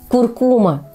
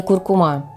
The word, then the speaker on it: куркума: используют в качестве приправы ударный слог в этом слове второй Хотя большинство произносит с ударением на последний В общем запомните что правильно куркума А не куркума мелколепестник или эригерон именно